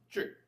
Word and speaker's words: Qi: Qi. Spell it for me. QI. QI. Oh, okay. So, Chi. Sort of? Right.